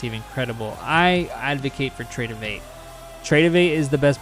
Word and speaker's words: Tradovate: v a t e trade tradovate but it's pronounced trade of8 so that's that um and yeah no interesting